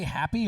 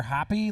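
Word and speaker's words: Hōpi: Do you say happy or hoppy? Like, you say hoppy.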